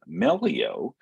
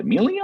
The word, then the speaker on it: Melio: Shifting Gears uh to melio um and there's always the uh you know the debate of how do you pronounce this uh this term is it Emilio or melio right it's tomato tomato right exactly but melio is